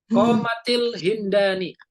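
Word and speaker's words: قامت الهندان: Jadi bacanya Qomatil ya. Qomatil Hindani kayak kode qomatis shalah, di kode qomatis yang pakai taknya di alif kasroh. Kenapa kok kasroh Ustaz nggak kode qomatis shalah? Karena kasroh yang paling ringan diucapkan.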